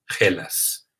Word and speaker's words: Hellas: tiene la nación griega, el nombre se escribe con H, E, L, A, S y se pronuncia Hellas.